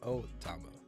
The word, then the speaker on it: Otama: Is it really that hard to add an extra syllable, bro? Just Otama.